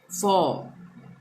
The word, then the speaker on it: for: ठीक है, अ से अ हो गया, फॉ। एफ ओ आर, आर का उच्चारण नहीं होगा, फॉ होगा।